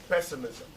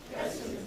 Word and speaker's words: pessimism: Usually all English words are four syllables that end in ISM have their primary stress on the first syllable. So say optimism. Optimism. Feminism. Feminism. Feminism. Feminism. Pessimism. Pessimism.